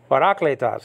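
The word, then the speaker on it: παράκλητος: It's parakletos because the acute marker is on the second syllable. The second alpha, you know what I'm saying? But anyway, parakletos, it means a helper.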